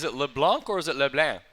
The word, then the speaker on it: LeBlanc: Gattis 4100 against Wade LeBlanc sticks for a littler is it leblanc or is it Leblon like it's supposed to be said you never know to Pat for pretty yeah it's a French name you pronounced it lucky